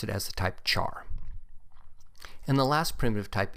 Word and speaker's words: char: pronounce it as type care since it is short for character but i've always pronounced it as the type char and the last primitive